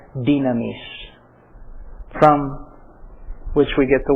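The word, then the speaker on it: δύναμις: In seminary Greek, the word is dunamis. I prefer to use the modern pronunciation in Greek. It seems to go better. It's easier to read it that way. Dynamis.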